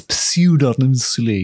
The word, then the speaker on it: pseudonymously: side hustle yeah now I don't know how to pronounce the word pseudonymously so I'm going to pronounce it pseudonymously is that God it's got a p in it hasn't it it's pseudonymously yeah yeah published the castle